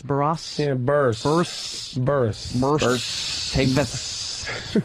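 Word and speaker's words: Burress: How do you say Barras? Barras? Yeah, Burst.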